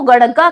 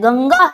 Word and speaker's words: गंगा: जाता है क्या दोस्तों इसको गड़गा कह दोगे आप ये गड़गा नहीं है ये क्या है गंगा है आपकी यानी अंग का उच्चारण आता है न कि अड़ का उच्चारण होता है तो इस